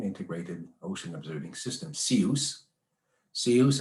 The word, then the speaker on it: CIOOS: CIOOS, as we chose to pronounce it to rhyme with the rest of the world.